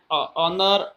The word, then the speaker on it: honor: And however and year and honor and not is used because the consonant h in these words is not pronounced।